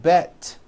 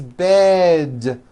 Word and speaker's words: bed: towards with D endings bed has a voiced D ending it's not bet with an unvoiced T its bed with a voiced D